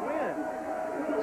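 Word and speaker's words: Nguyen: Overthrew his tight end, but Wynn came back to the football, and that's now we have a second and eight situation. N-G-U-Y-E-N, but pronounced Wynn.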